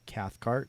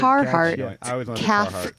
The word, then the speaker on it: Cathcart: your last name well it's like Carhartt it's confusing but it's not Carhartt yeah it owns Carhartt